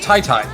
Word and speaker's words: qyty: we've been told that apparently qyty his name is pronounced Tai Thai which my brain I